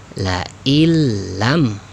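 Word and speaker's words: لئن لم: Ketika dibaca, nun sukunnya ini dileburkan ya, jangan dianggap ya, dihilangkan, sehingga la illam, begitu ya, la illam ya, nunnya hilangkan, nun sukunnya.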